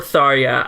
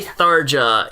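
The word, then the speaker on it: Tharja: no matter what look it's Darja yeah or thoria I don't care they say Darja in the game so adios how they pronounce it in Japan I'm pretty sure yeah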